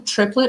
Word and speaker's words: Triplet: Is it his name Triplet or Triplet? Triplet, but it's French, so it's pronounced triplet.